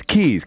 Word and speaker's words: Kees: Kees is a very common name in Holland. The proper Dutch pronunciation, Kees.